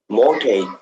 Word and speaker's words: mortgage: Mortgage, mortgage, Hmm. mortgage, Mortgage. You don't really pronounce the mortgage. T.